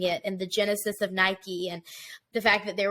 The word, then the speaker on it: Nike: in the 80s and bought a pair of Nikes and she didn't even know it's pronounced Nike she was calling them Nikes Nike like Nike made